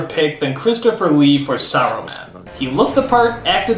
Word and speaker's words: Saruman: Saruman, you idiot! It's pronounced Saruman! The S isn't silent!